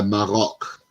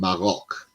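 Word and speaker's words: Maroc: and plays for La marok not Morocco let's get this straight it's beljic and morok that's how they pronounce it in their countries uh not how us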